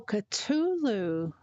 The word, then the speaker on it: Cthulhu: Cthulhu ca cthu cthulu maybe oh culu. Oh, okay. Culu. Okay.